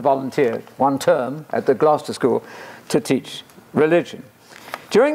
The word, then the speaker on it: Gloucester: of the Crypt school at plough sister no Gloucester Gloucester Gloucester not Glau sister not war sister Worcester British people are very